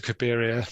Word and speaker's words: Cabiria: confused between Caligari the place and N to cabiria the and somehow in my head I never